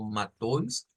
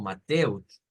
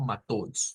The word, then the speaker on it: Matthäus: Ya habíamos explicado que esto lo vamos a leer como Matthäus, aunque también se puede leer como Mateus, pero vamos a apuntarle más a la pronunciación estándar y lo vamos a decir como Matthäus, Matthäus.